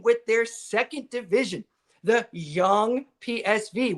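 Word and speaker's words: Jong PSV: Especially the same with their second division, the young PSV, which is the Young PSV, that's how they say it, over in the Netherlands.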